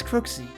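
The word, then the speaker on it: Cruxie: My name is Krooksie. Cruy. All right. At least she freaking tells me how to pronounce it because yeah, I always freaking screw it up the first time.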